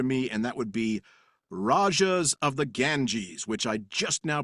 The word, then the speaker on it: Rajas of the Ganges: And that would be Rajas of the Ganges, which I just now pronounced right, maybe for the first time ever.